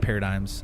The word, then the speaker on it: paradigms: Paradigms is how it's Oh, thank you. Paradigms. It's kind of like a mindset. Yeah. Yeah. Yeah. Did he spell it right? Is that how it's spelled? Because he put a G in there.